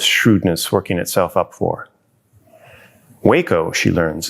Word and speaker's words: Waco: Waco, she learns, is pronounced with a long A sound, which is disappointing. She prefers, and who wouldn't, the comic splat of wham, pow, wacko. Waco, Texas.